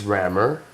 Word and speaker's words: Rammer: So my name is Rammer, and it's spelled exactly how it's pronounced.